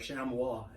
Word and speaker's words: chamois: in front of me you're right on the pronunciation but the spelling is really mirrors yeah most people come in looking for a sham wah and basically it's a